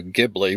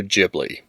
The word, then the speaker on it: Ghibli: would be closer to Gibli with a hard G sound, Miyazaki chose to have the studio name use the Japanese pronunciation of the word with a softer J sound, making the pronunciation studio Ghibli.